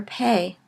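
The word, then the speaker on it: פ: following that is the letter pay it is either pronounced like our P a hard post sound or a like our letter F and we will see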